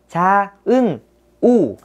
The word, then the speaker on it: Cha Eunwoo: Chúng ta sẽ đọc là Cha Eunwoo, được chưa?